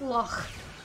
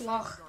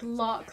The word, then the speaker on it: loch: But yeah, like if I was to pronounce loch, like lock, like a lot of English people just say lock, sounds really wrong and weird.